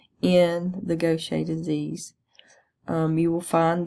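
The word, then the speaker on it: Gaucher: the goet disease and it doesn't sound like it looks because it is actually a French word so it's pronounced goet in goet disease since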